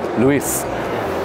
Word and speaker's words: Luis: so they had because some people say Louie and S is silent but um Luis Luis Spanish why because